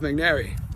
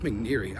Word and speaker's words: McNary: Jeff McNary. Oh, and I don't know why I was saying his name wrong. I said Jeff McNeary. His man's name's not McNeary, it's McNary.